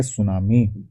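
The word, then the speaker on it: tsunami: इसके बाद नेक्स्ट चीज है सुनामी। सुनामी भी बहुत इंपॉर्टेंट है। स्पेलिंग इसकी ध्यान से देख लो। इसमें टी साइलेंट रहता है।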